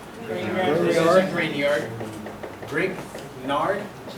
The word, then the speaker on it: Grignard: Grignard. This is a Grignard. Grignard? Is that spelled right? Grignard? Why do they call it Grignard? G silent.